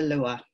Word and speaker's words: lwa: This is spelled LWA. Sometimes you might see it spelled LOA, but they're the Lua.